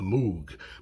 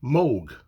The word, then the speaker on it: Moog: plays now I always want to say the Moog but of course people are always telling me it's not pronounced moo and some people still do it's pronounced Moog I think even John lenon called it Moog